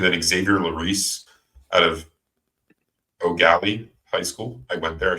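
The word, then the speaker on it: Eau Gallie: And then Xavier Larice out of O'Galley High School. I went there, I should know. Spelled EAU, but pronounced O.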